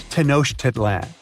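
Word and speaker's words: Tenochtitlan: It's Tenosh Titlan. And Mayan cities are hard to pronounce too.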